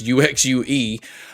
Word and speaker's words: UXUE: Uh I don't think it's pronounced you you shoe. I think it's UXUE.